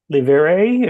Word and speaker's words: Livry: Livere, if you have the French pronunciation, Judge. Livre, okay, all right.